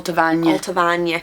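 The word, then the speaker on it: Allt-a-Bhainne: y Al abah Al abah is Al Al alavan so that means burn of milk alt is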